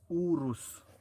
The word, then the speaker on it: Urus: was saying Lamborghini Urus it's Urus you can just read it Ur us Urus o r USU that's how you pronounce it Jerry owns his own